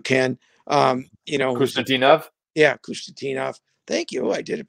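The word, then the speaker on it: Khusnutdinov: You know, we saw the Russian kid that I'm not going to pronounce. You can, you know, Kustadinov. Yeah. Kustadinov.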